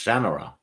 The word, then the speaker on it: Shannara: never knew what was the proper pronunciation of Shannara until last month, and I first read the sword back in 1986. Yeah. I had to ask. It's Shannara. Yeah. But I think that you could say Shannara too.